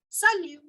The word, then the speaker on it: salut: called as salute salute again I am not pronouncing the T in the end okay so don't forget the rules of pronunciation which we have told you bully shoes Salu I am not making any sound of the tea bonjour salute and cuckoo